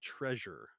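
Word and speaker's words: Trezor: company called ledger and a company called treasure but it's spelled t-e-r no sorry t-r-e-z-o-r and before i get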